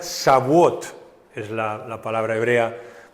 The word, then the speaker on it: Shavuot: fiesta de Pentecostés Ah o como en hebreo se pronuncia sabot es la la palabra